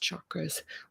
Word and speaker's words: chakras: The first recorded history of the exploration of the hubs can be found in the 4,000-year-old framework of the chakras, properly pronounced chakras, used as a map of the human experience, with 7 predominant centers connected to over 100 other minor energetic concentrations.